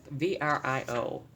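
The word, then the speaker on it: VRIO: okay so this is idea of VR IO pronounced by its letters it's a framework to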